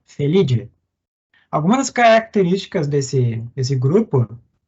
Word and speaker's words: Felidae: A gente fala, lê Felidae, mas se pronuncia Felidae.